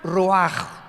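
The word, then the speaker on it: רוח: escribe ruach como suena con r de Raúl ch al final rach y se pronuncia raj Entonces cuando hablamos de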